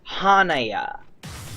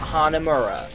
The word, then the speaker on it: Hanaya: His name's Hanaya. Hanaya, not Hanamura. That's another character's name. Hanaya. I said it wrong.